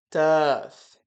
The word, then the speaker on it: tough: Ali eu já coloquei de cara como a gente fala essa palavra tf. Esse é com som de f mesmo, tá?